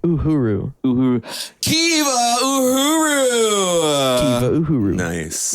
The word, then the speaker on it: Uhura: time, they were like, give it a feminine sound at the end. Uhura. So they changed it to Uhura, but it's Swahili for freedom, and so that's why